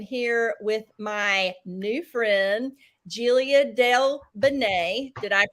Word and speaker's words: Giulia Del Bene: And today I am here with my new friend, Giulia Del Bene. Did I pronounce that correctly?